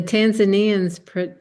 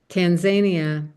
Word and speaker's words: Tanzania: And oh, by the way, the Tanzanians pronounce Tanzania as Tanzania.